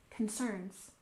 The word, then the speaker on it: concerns: in privacy privacy and concerns we stress the second syllable concerns concerns so private concerns are